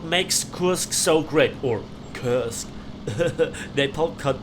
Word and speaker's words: Kursk: Kursk so great, or Kursk. Napalm can't pronounce English names. Well, it's Kursk in German, so whenever there's the possibility for me as a German to pronounce a word in German, I do so.